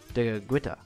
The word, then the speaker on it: Tekakwitha: Because of her blindness, she was given the name Tekakwitha, which is pronounced in Mohawk, Tekakwitha, which means she who bumps into things.